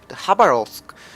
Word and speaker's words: Khabarovsk: be talking about the hub arose well I actually looked it up you have to pronounce it that's how about all three you don't pronounce the K so um yeah this